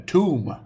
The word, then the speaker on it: tomb: put a b in a tomb not thumb I know thumb also has a silent B but I'm asking for